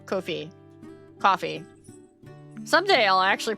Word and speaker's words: Ko-fi: Get out of my Ko-fi. Kofi. Coffee. Someday I'll actually pronounce that right the first time.